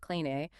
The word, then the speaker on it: Christoph Kleine: We're looking at a fantastic article by Christoph Kleine, that's pronounced Kleine, called Religiöser Nonconformismus als religiös-wissenschaftliche Kategorie.